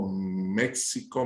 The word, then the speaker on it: México: Bueno, fíjate tú, ese vocablo sorop o joropo, en el castellano antiguo la X se tendría a pronunciar como una J, por ejemplo, México, México, Texas, Texas.